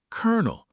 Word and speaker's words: colonel: Then I found out everyone says colonel, like the kernel of popcorn.